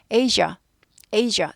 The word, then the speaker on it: Asia: Asia, Asia 두 가지 발음돼요.